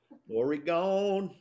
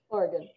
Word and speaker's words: Oregon: people we're still there oregon morgan oregon yeah which is weird because it does sound like an organ is the same thing